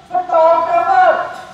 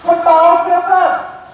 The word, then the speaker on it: photographer: First word is photographer. कल अभी पढ़ा थी photograph. इन्हें दोनों की pronunciation देखो बेटा.